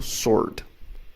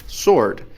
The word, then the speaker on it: sword: você tá vendo Sword Apesar de eu ver Sword ali eu não falo w eu falo sorte então vou colocar aqui abaixo como é dito também Sword a segunda que é